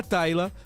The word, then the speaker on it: Tyla: Tyla, né, um nome escrito diferente da minha filha, mas é Tyla, a pronúncia é igualzinho o nome da minha filha.